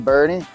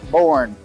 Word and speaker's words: Boerne: and so you know Bernie is just one of my favorite communities right outside of San Antonio and on top of that is pronounced Bernie not borne as many people say I think I even